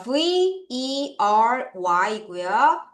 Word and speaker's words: very: 자 V 발음할 때 압류 살짝 깨무세요. 리 발음할 때 혀를 살짝만 뒤로 할게요.